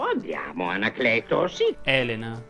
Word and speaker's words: Elena: o andiamo anacleto sì elena si pronuncia con la è aperta ovviamente solo la prima